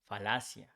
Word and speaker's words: falacia: We change Y for IA, fallacy becomes falacia. Here it's important to say that double L becomes just one L in Spanish, but it's pronounced the same.